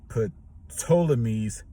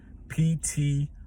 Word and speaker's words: Ptolemy: The Roman Catholic Church accepted Ptolemy's theory, and that's spelled Ptolemy theory. The P must be silent, and Ptolemy's could be the name, Ptolemy.